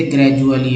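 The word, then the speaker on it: gradually: साथ ही दोस्तों डी को ड तो बोलते हैं, ज बोलते हैं। जैसे ग्रेजुअली एक वर्ड है, ग्रेजुअली, है ना।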